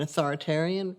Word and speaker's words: authoritarian: One of the ways you remember that, by the way, is authoritative rhymes with creative, and authoritarian rhymes with barbarian.